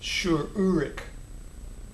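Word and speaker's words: שׁוּרֶק: That's also going to be pronounced U, urik. So you hear the U sound even in the name shurik.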